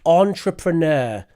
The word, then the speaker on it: entrepreneur: A person who operates a business, that's an entrepreneur. This is the English pronunciation.